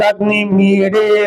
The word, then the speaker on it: अग्निमीळे: मैं पहले पढ़ता हूँ, उसके बाद मैं आप सभी से उच्चारण करवाता हूँ। ओम अग्निमीडे पुरोहितम यज्ञस्य देववृत्तिजम् होतारम रत्नधातमम्।